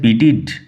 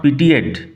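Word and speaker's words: pitied: পিটিড পিটি থেকে আসছে পিটিড উচ্চারণ লক্ষ্য করো পিটিড নট পিটিয়েড people always পিটিড লোকেরা সবসময়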